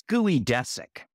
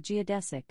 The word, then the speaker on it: geodesic: thanks Alexa and what's guoy desic guid desic is Pete's incorrect pronunciation of geodesic what Alexa dude not every Geo is pronounced gooey yeah dude not every